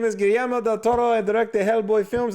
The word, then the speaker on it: Guillermo del Toro: Guillermo del Toro. Yes, that's how you pronounce his name.